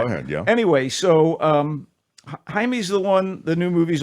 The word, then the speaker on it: Jaime: when young Jaime Reyes, we'll call him Jaime. Let's get the pronunciation proper here. Jaime Reyes, it looks like Jamie, a Mexican-American teenager bonded